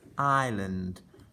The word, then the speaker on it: island: It's got a tricky s in the middle that we don't sound out.